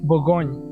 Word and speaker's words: Bourgogne: So Burgundy is also called Bourgogne. Bourgogne, that is a French term, French word. How they call Burgundy in French is Bourgogne, and it's a small area.